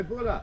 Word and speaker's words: Bula: How do you say cheers in Fiji? Cheers. You don't say cheers. You say Bula.